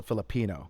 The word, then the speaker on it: Filipino: Yeah, I think you put the emphasis on the second eye. So, Filipino.